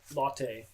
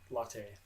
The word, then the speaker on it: Lotte: Latte. I think it's I didn't know it was named after Charlotte, so it's Latte.